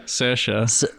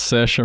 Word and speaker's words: Saoirse: Saoirse. What? Yeah, it's Saoirse Ronan.